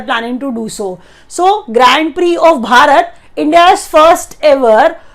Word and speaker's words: Grand Prix: It is pronounced as Grand Prix, not Grand Prix.